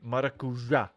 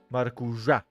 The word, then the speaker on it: Maracuja: I've been scolded by my partner that I should pronounce the end of your name, Maracuja. Maracuja. That's how I should pronounce it.